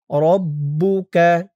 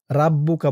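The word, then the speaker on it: رَبُّكَ: আরবিতে এখানে জাল ওয়াললাইলি সাজা সাজা ওহা ওাললাইলি সাজা মাওদা মা এক আলিফটান মাওদা আকা এখানে শক্ত হবে আকা রব্বুকা রাব্বুকা বলা যাবে না বলতে হবে রব্বুকা ওমালা ওমা একলিফটলা কালানা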